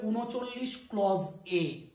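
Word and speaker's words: 39(a): অনেকেই দেখবে এই উচ্চারণটাকে বলে থাকে 39 এ। কিন্তু এর প্রোনাউন্সিয়েশনটা সম্পূর্ণ ভুল হয়ে যাবে, কারণ এটা 39A নয়। প্রথম ব্র্যাকেটে যখন রয়েছে সেটা আছে ক্লজ, অর্থাৎ এটার উচ্চারণ হবে 39 ক্লজ এ।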